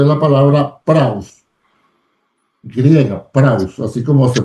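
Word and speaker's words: πραΰς: Entonces, la palabra que Jesús usó acá, manso, es la palabra praus, griega, praus, así como se pronuncia.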